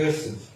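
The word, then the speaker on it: חסד: E aí a pronúncia transliterada é Hesed, né?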